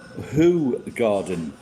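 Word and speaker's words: Hoegaarden: go by the way whole garden is pronounced who garden we don't give a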